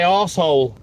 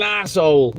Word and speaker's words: arsehole: We say arsehole. He's an arsehole rather than asshole, Ralph. We pronounce it slightly different.